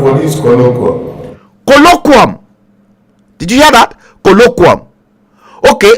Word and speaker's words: colloquium: is you hear that colloquium okay what is the pronunciation listen colloquium colloquium here this colloquium okay all right okay